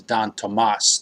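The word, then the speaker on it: Don Tomás: Don Tomas, is also, the pronunciation is Don Tomas. The accent is on the A.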